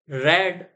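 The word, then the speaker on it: read: सा डिफरेंस होता है क्योंकि जब हम पास्ट की बात करते हैं तो इसको रेड बोला जाता है सबसे पहले तो इस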